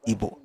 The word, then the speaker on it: Igbo: thing they are doing, I spelled it as IBO, but pronounce it as Igbo, because the Igbo people themselves pronounce it as Igbo. They don't say Igbo, they say Igbo.